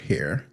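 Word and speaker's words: Hare: By Canadian psychologist Robert Hair. Oh, that's why it's named after him. Okay, cuz hair is spelled not like hair.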